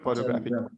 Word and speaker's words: photograph: second syllable graphic okay and here we are putting stress on the first syllable photograph photo graph